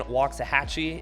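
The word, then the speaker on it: Waxahachie: It's a city that often people don't know how to pronounce. So, let's go ahead and say it again. Walksahhatchee.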